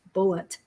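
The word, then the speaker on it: Bulleit: And how strange that she was asked to buy bullet bourbon, pronounced bullet.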